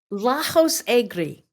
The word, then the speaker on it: Lajos Egri: Lajos Egri.